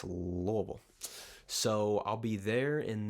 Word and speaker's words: Louisville: going to Louisville Louisville say it like you got some marbles up in your jaw Louisville not Louisville not Louisville not I mean it's loable so I'll be there